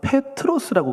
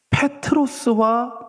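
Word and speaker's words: Πέτρος: 자 그러면 다시 베드로의 이름의 뜻은 아까 제가 페트로스라고 그랬습니다. 발음이 페트로스와 페트로스의 뜻은요 돌입니다.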